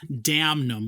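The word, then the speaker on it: Damnum: my number 11 Allegiant their album damn numb which is spelled d-a-m-n-u-m so uh hard to Pivot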